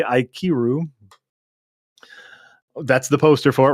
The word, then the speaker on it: Ikiru: So I got to see Ikaru, which I had yet to see. Really phenomenal. If I'm pronouncing that correctly, Ikiru.